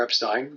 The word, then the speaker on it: Epstein: 1961 they connect with Brian Epstein or Epstein depending upon how people want to pronounce his last name and Brian meets them